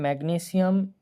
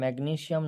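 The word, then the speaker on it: magnesium: তো এখানে হচ্ছে ম্যাগনেসিয়াম নাইট্রাইড। এর উচ্চারণটা হবে ম্যাগনেশিয়াম নাইট্রাইড।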